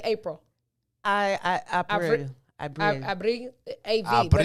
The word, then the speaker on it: Abril: Abril. Abril. A-V. Abril. But it's spelled Abril.